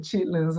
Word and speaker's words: chitterlings: We call it chitlins, but it's spelled chitterlings. So, um, so she's planning on having neckbones and grains.